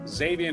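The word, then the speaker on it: Zxavien: Zavian Harris, I can't think of no way to pronounce X and a Z except Z, right? Zavian Harris.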